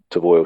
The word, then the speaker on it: Foel: I think it's pronounced Foel. It's actually spelled Foel, Foel Studio.